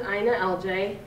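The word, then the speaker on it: INALJ: So I pronounce it Ina LJ. Most people say I-N-A-L-J or the whole thing. I just call it Ina LJ now.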